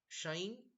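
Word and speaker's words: sinh: And how do you pronounce it? Shine, cosh, tan or chinge or cosh etc.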